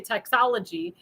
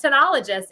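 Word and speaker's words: Tanologist: It's called Tenologist and it's very when you look at it you don't know how to pronounce it but it's I want to say Texology but it's Tologist.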